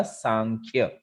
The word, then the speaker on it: सांख्य: ये प्रोनाउंस होगा सांख्य, है ना। जैसे संख्या होती है, संख्या, तो उसी से बना है सांख्य।